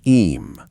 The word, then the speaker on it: Eyam: of the Derbyshire hills, called Eyam, pronounced eam, like a quiet sound at the back of the throat.